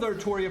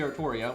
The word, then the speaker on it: Artoria: but the reason i i go with artoria for many reasons one that's what they want it to be they just don't know how english works so they're just they're just spelling it wrong right like they literally want it to be artoria which is evident by every character that says the name in any official work ever always saying it artoria um and then having